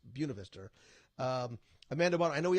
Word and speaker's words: Buena Vista: like I always Buena Vista University it's not it's spelled the same way the point of histo but it's Buena Vista Amanda barn I know we have a call